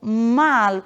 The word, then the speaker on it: mal: Portanto, uma palavra como mal, ela sempre vai ter a pronúncia do L e não mal.